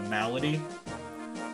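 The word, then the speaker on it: Melady: Apparently, you're supposed to pronounce her name uh Malady, but yeah, she's good.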